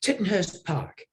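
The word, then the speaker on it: Tittenhurst Park: it pronounced T titon Hurst Park is it tit Hurst Park titon it's actually pronounced titon Hurst Park in Asco yes I I got a fanboy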